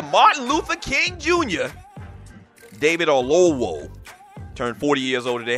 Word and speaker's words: Oyelowo: Let me try to pronounce that one more time. David Oyelowo.